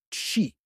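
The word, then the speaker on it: qi: sur un concept central le quii prononcé chi qui désigne l'énergie vitale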